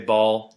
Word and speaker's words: Baal: B-A-A-L. I say Baal. Apparently it's pronounced Baal.